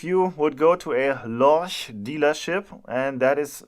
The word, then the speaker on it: Lorch: But if you would go to a Lorch dealership, and that is how you pronounce that brand name, and would look for